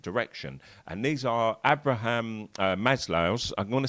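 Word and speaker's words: Maslow: And these are Abraham Maslo. I'm going to say Maslov sometimes because I've been reading lots about him for years and I always called him Maslov and now I found out it's Maslo today when I was doing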